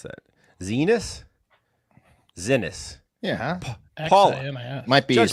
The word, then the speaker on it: Xinis: But back to Kilmar, the judge, Paul Innis, said, or Xinis, how do you pronounce that? Zenis?